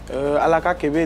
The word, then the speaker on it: Alaka Kébé: Alaka Kébé, déjà, il va falloir... C'est ça, je prononce bien, non? Avec l'accent? Si, c'est bien Alaka dit, Kébé. Bien même.